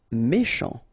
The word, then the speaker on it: méchant: Méchant, final T not pronounced, C-H together, sh, méchant, méchant.